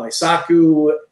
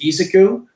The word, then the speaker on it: Isoku: sandy valley isoku is his official name i've heard him called aisaku isocow danay assures me that the official pronunciation is isoku so that's what we'll call him today but whatever you call